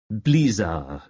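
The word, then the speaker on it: bazaar: Way She informed him she pronounced it with the accent on the first syllable blear I wonder how many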